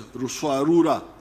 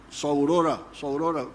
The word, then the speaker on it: Ruswarura: There was a notorious chief in Buzinza, known as what I came to understand as Ruswarura. When you read, I think it is Speak, Understand, they write Saurora, but it didn't, they were mispronouncing the name.